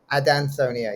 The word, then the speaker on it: Adansonia: Adansonia. Is that correct? Adansonia, yeah. Named after a guy called Adanson.